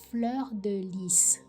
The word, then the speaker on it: fleur de lis: Fleur de lis. Okay, I missed out the S on it.